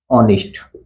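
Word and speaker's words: honest: शब्द है इसका उच्चारण इसमें ह साइलेंट है इसमें भी ह साइलेंट है इसमें भी ह साइलेंट है इसका जवाब उच्चारण करोगे तो इसका उच्चारण होगा ऑनेस्ट और इसका उच्चारण करोगे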